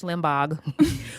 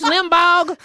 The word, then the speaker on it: Limbaugh: He pronounces the G at the end of Rush Limbaugh's name every time he says it.